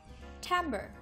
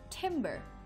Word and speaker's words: timbre: of word ideas we'll be pronouncing the word Tambor Tambor often mispronounced as timbre Tambor means the sound or tonal quality of